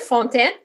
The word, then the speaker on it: Fontaine: Yeah, so I'm glad that you were able to pronounce my last name pretty good, Fontain. So everybody knows that this is a French name.